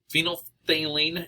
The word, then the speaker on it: phenolphthalein: paper is an indicator another indicator is phenothalene which is kind of a weird word to pronounce but phenolphthalein is an indicator and um